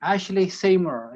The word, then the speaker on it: Ashleigh Seymour: adventures as i said and we have ashley ashley seymour is that correct that is correct pronounced properly pretty good pretty good okay i'm